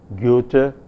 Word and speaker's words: Goethe: His name was Goethe, and in pronouncing the name of this dramatist, the vowel involved, the first vowel, namely Ö, is a vowel which is a front vowel but said with lip rounding.